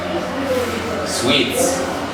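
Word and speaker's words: suite: t e which is which has the same pronunciation as sweets and then we transcribe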